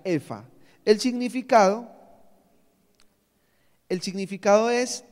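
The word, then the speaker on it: epha: Ese término en hebreo es efa, o se escribe E-P-H-A, epa, ¿sí? Pero se pronuncia efa.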